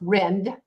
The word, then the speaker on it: Rind: practices absolutely Dr Bruce Rend it's it's still it's spelled r-i-n-d which is rind but it's pronounced Rend and he's in Gaithersburg